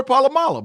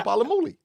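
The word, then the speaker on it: Polamalu: I love Palamuli, and it's Troy Palamala, but I call him Palamuli. But you can't say it right.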